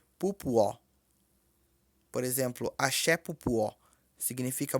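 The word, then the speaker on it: pupọ̀: Mas pronuncia-se pupuó. Por exemplo, axé pupuó. Significa muito axé. Escreve-se P-U-P-O, mas pronuncia-se pupuó. Porque o P tem som de pu.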